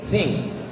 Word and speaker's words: think: Think, positive thinking, berpikir, bukan thinking, think. T sama H itu bacanya think.